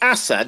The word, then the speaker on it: Asad: Is it Asad? Do I pronounce it right? Fine.